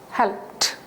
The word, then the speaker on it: helped: Help, p is a voiceless sound. When ed is added, okay, it becomes, as it is p, helped, helped.